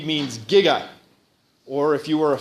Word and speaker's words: giga: to Future day um they said jigawatts because no one in their entire production knew how to pronounce Giga um but you should